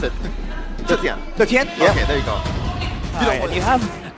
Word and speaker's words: Zetian: How do you pronounce it? Zetian.